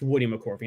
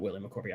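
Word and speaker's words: Woody McCorvey: uh real quick correction it's Woody mccorvy not Willie mccy I shouldn't have said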